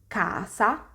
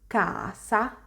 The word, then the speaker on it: casa: so you can see all four words have this ah open sound the next sound i'm